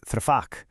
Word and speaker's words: tfaddal: Please in Darija is tfaddal. Now, that three sound at the beginning, it comes from the back of your throat. It's almost like a soft little gulp.